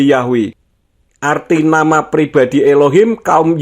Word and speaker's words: Yahweh: Alexandria pada abad ke-2 menggunakan bentuk yahwe banyak transkripsi bahasa Yunani juga menunjukkan bahwa yhwh harus diucapkan sebagai Yahweh arti nama pribadi Elohim